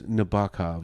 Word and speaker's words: Nabokov: I'm like okay that's how you say it Nabokov and then the teacher was like no it's naov and I was like sorry I listen learn